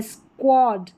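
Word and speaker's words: squad: Next देखें, यहाँ पर इसी पैटर्न के एग्जाम्पल है, यह है स्क्वाड, स्क्वाड, स्क्व पढ़ा जा रहा है SQU को, और यह है स्क्विंट, स्क्विंट।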